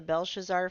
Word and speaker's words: Belshazzar: Kinda, Brenda says, were you talking about the Belshazzar feast where there was the writing on the wall?